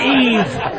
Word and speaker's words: Yves: So Is it spelled like Y? E. Yeah, Y-V-E-S. Y-V-E... Your name is Yves. It's not Eve.